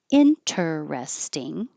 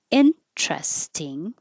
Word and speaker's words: interesting: You can pronounce this word three main ways: interesting, or make it shorter, interesting, or drop the T, interesting.